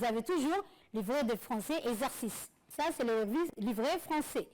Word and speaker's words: exercice: Exercice. Très bien, exercice. Est-ce qu'on entend exi ou bien exé? Exercice, exé.